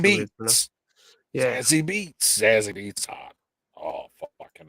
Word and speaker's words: Zazie Beetz: Oh, I think that's Zazzy the way it's pronounced. Beats. Yeah. Zazzy Beats.